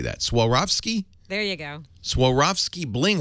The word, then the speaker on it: Swarovski: Swarovski?